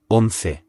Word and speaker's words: once: Number 11 in Spanish is Once. That's spelled O-N-C-E and pronounced once. Remember, a C before an E or an I makes a th sound.